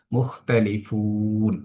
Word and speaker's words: مختلفون: মুখতালিফুন শব্দটির মধ্যে আমরা যদি তাকাই, মুখতালিফুন এখানে স্বাভাবিকভাবে পড়লাম, ফুন এসে এখানে এসে তিন পরিমাণ টান হচ্ছে। ইতিপূর্বে যে নিয়মগুলো হয়েছে সেই নিয়মটার আলোকে সেম এখানেও মুখতালিফুন তিন আলিফ টেনে আমরা উচ্চারণ করছি।